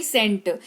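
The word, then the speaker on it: scent: सेकेंट नहीं सेंट।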